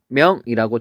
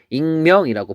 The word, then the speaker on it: 익명: 그 마찬가지로 또 뭐가 있냐면 익명이라는 게 있는데 얘도 원래 릭명이라고 돼 있어야 돼요. 근데 그렇게 안 하고 우리는 익명이라고 부르죠.